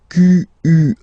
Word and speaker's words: quelle: And the good news is that, as usual in French, we write the thing differently, but then we can pronounce them the same way. And then the feminine form is written like that, Q-U-E-L-L-E, but it's pronounced like the masculine form. Quelle at the masculine, quelle at the feminine. Okay, so it's basically same pronunciation.